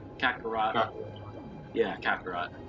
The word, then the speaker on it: Kakarot: Dragon Ball Z katha brought cataract however that's pronounced Kakarot oh yeah Kakarot like wait till that game